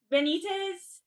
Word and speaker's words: Benitez: Benitez.